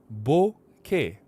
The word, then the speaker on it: bokeh: I said bokeh, bokeh, bokeh, bokeh, bokeh, bokeh.